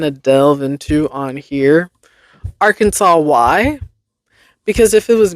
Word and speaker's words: Arkansas: Arkansas Historical Society declared the correct pronunciation of Arkansas as Arkansas. The divergent pronunciations of Arkansas and Kansas stem from French renderings of similar tribal names, with Arkansas maintaining the French pronunciation.